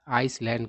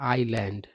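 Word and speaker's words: island: और इस वर्ड का उच्चारण आप क्या कीजिएगा, बहुत लोग इसका उच्चारण आइसलैंड करते हैं, जो कि गलत है। इसका उच्चारण होता है आईलैंड, है ना, इसका उच्चारण नहीं होता है।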